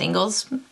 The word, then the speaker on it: Ingles: shopping Isles so it's not um it is pronounced Engles a lot of people get that confused but